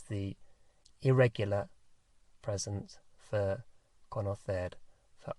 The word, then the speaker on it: conocer: And it's conocer. Conocer.